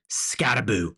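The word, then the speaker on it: Skattebo: He goes by the name Scataboo. Okay, and look, it's spelled like bow, Scatabo, but everybody calls him Scataboo, so I'm going to start calling him Scataboo, okay?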